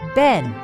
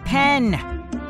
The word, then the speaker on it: Ben: My name is Ben. Not Pen.